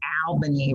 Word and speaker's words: Albany: So people in the South pronounce that Albany, right? When you see it, you automatically think short A, right? But if you go to New York, it's pronounced Albany.